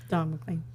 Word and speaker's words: McLean: Don McLean.